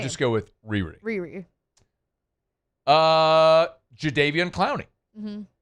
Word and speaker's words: Jadeveon: He was Jadeveon Clowney forever until he told everybody after we had been calling him Jadeveon Clowney for decades. It's actually Jadeveon. We're like, oh, cool. Neat. Thanks. We've been saying it wrong all the time.